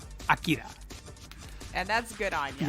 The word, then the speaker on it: Akira: Akira.